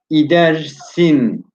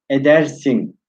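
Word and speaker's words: ایدرسن: İdersin. Ama nasıl okunur? Bu idersin diye okunmaz. Edersin.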